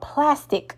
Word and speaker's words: Plastiq: Well, I found out about something called plastic today, and that's spelled Plastiq.